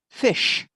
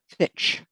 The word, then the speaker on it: fish: People wouldn't understand that because it should be pronounced, I'd like to order the fresh fish, not fitch.